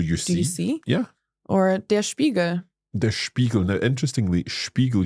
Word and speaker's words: Spiegel: Yes, there is an exception for when a word starts with SP or ST, then it's pronounced as sh. Spiegel.